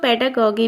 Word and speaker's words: pedagogy: है child development and पेडागॉजी। पेडागॉजी जिसको कुछ लोग पेडागॉगी भी बोलते हैं, राइट, क्योंकि इसमें जी साइलेंट है।